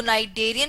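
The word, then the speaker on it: Cnidaria: यह नाइटे की है सी इसमें साइलेंट होता है इसको नाइजेरिया बोलते हैं यह आप देख रहे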